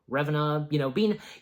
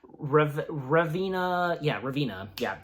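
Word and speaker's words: Ravenna: Basically, Revena, I think that, again, that's how her name is specifically pronounced. Revena turned to the Mirror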